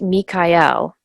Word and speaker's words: Michael: Bible and the Quran his name is traditionally pronounced me Kai L so the L suffix you'll notice almost every